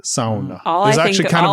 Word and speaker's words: sauna: Like, if you go to Finland, they're going to say sauna. That's a like the Finnish way to say it. Sauna.